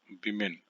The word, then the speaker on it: women: तो जाहिर सी बात है यहाँ पर वुमेन नहीं होकर के क्या हो जाएगा, विमेन हो जाएगा। क्या स्पेलिंग हो जाएगा? विमेन। इसको विमेन पढ़ते हैं, वुमेन नहीं पढ़ते हैं, विमेन।